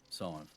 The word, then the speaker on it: Sadhbh: Scythe. Aye, Either. Scythe. I still don't think I can say it right. It's literally like the number 5, but you put an S in the front of it.